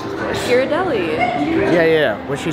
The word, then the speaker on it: Ghirardelli: but now we're in some how do you pronounce this place Ghirardelli yeah yeah what she said uh Ghirardelli gotta get some ice cream yeah I'm debating